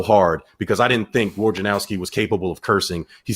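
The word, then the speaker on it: Wojnarowski: to teach you all how to say his name war gin like the drink owski say it with me war say his name correctly war janowski woes the woj bomb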